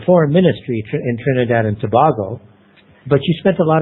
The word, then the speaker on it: Tobago: the I left Trinidad and Tobago uh it's pronounced Tobago not Tobago we Tobago Tobago that's right uh I went